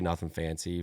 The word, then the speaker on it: Nuthin Fancy: I have to spell it out because nothing is technically spelled wrong, and I still sell people that just see for like nuttin, like nothing. Like my grandpa would be like Nuthin Fancy, like nuttin honey. I'm like, but yeah, I just say Nuthin Fancy, but obviously it's spelled different.